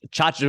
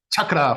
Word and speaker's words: Chachra: sitting here with Chachra. Let me make sure I get this right. Chachra. Chachra, yeah. People like to say Boom. chakra for some reason. Chachra, just like it's spelled.